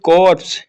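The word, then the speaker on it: Corps: से कोई नहीं है राष्ट्रीय कडिट कोर लिखाता है अपना कॉर्प्स साइलेंट होता है ठीक और उसके बाद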